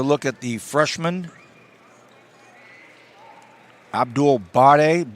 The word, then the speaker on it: Bare: at the Freshman Abdul bade b-a-r-e spelled like bear like bare knuckles freshman six nine and